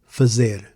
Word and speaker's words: fazer: Today, we're going to keep practicing Portuguese pronunciation, and we'll do it through the verb fazer. This way, we practice something useful. In English, fuzzer is usually translated to to do or to make.